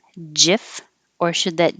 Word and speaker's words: GIF: of english when an i comes after the letter g it sounds like a j so looking at this by itself it would make sense that people would guess jif if you want to